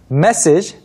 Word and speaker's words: message: 조금 확실히 발음해보면 message versus Massage. massage. message는 매에 강세가 있어서 나머지가 쭉 떨어지게 되고요. massage는 Massage, it's on the final A. 네, massage 두 번째에 있습니다. 그래서 massage 이렇게 발음을 해주셔야 됩니다.